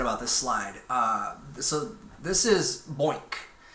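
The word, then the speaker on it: BOINC: this slide this is boink rhymes with oink right boink and it stands for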